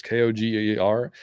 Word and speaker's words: Koger: I don't know if it's Koger. I don't know how to say his last name. It's Koger.